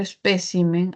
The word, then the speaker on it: espécimen: Esa mayor fuerza de voz, esa sílaba tónica que estaba en P de espécimen se ha movido así de especímenes.